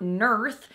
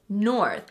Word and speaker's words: north: It's not north, it's north.